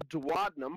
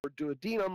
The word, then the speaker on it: duodenum: And at the bottom of the stomach here is this area called the duodenum or duodenum. I've heard people pronounce it either way. That's fine. I don't care which way you pronounce it, just as long as you remember it.